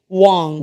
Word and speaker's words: Wong: But the first syllable is Wong, like w o n g.